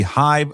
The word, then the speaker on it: HYV: Download the Hive Social app to your smartphone today. iOS store, also Google Play. Just search HYV Social. Again, that's HYV Social, pronounced Hive.